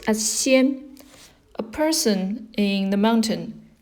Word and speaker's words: 仙: It's pronounced as 仙, a person in the mountain.